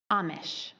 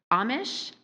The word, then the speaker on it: Amish: Amish. Uh, does it have an alternate pronunciation? It does. Amish. Amish. Amish. Okay.